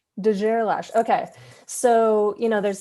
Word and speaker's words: de Gerlache: guerrilla straight but i've i heard from his family that uh most people pronounce it wrong so it's de gerlache de gerlash okay so you know